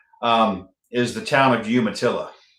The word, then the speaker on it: Umatilla: is the town of Umatillaa. It's um it's Umatillaa and I know Penguin told you to pronounce it the other way.